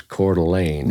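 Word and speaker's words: Coeur d'Alene: See, I pronounced it wrong. I I didn't know the regional pronunciation was Cordelane. Yeah. So, you really to make it rhyme with gasoline, you got to you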